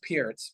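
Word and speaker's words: Pirc: Philindor defense or the Perk defense. Is that a thing? Yeah. Well, it's pronounced Pierce, but yeah.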